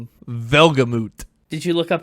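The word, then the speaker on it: Welgemoed: Well, in parentheses, it says pronounced, and then there's like the phonetics of V-E-L-G-A-M-O-O-T, which I chose to see as Velgamut. Okay, that checks out phonetically, I guess.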